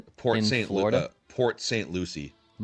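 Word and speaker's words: Port St. Lucie: Uh, Port Lucia, is that how you pronounce it? Port St. Louis. Port St. Lucy.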